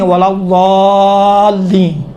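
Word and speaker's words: ولا الضالين: یہ دیکھیں تھوڑا سا موٹا بنائیں. آپ دال کا تصور کریں، دا ولا ضالین، یہ دال کا ہے. خود تصور کریں. ہاں کہا تھا یہ دال کا تلفظ تھوڑا سا موٹا ہوتا ہے. موٹا آپ کس طرح کریں گے؟ ولا ضالین، دال جیسا ہوتا ہے لیکن کاملاً دال کا تلفظ نہیں ہوتا ہے.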